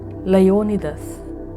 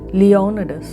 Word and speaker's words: Leonidas: Leonidas This is a Greek word—pronounced Lay-o-ni-thus. In English, it’s pronounced Lee-o-nuh-duhs. In American English, it’s Lee-nai-dis. And in Hindi—Leonidas.